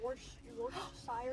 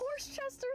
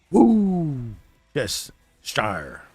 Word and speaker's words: Worcestershire: Let's see how people pronounce it. Or like, oh yes, Worcestershire. I love Horsechester sauce.